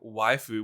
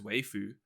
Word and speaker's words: waifu: Like, buying these kinds of, as you call them, waifu, which I've always pronounced as waifu. Why? I don't know. I didn't realize it was wife.